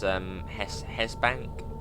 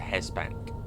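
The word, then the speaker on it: Hest Bank: So this is Hesbank, but I think it's spelled H-E-S-T, but I think it might be a silent T. It's a Hesbank.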